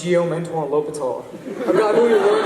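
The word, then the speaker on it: L'Hôpital: Now, I just made you imagine a G that says yum, an ant that won, and a low petal. You just learned how to pronounce Geomentuan L'Hopital, a guy who you learned about in calculus.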